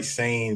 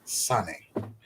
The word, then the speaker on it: Sane: See, people say Kari Sane, but I pronounce it the way that, you know, that most Japanese names are pronounced, which would be Sane.